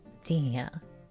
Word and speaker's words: Dehya: This name has a few variations, including switching the H sound with an M, but is commonly pronounced Dehya. Dehya, the name is said to be from the Tajawid language.